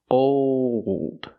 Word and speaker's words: old: Old. When you make that dark L, the tongue gets tight and makes an extra sound.